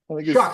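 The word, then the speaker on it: Shough: Is it Tyler Show or Tyler Shaw? Shuck. Shuck. I Tyler think it's Okay. Shuck. pronounced Shuck.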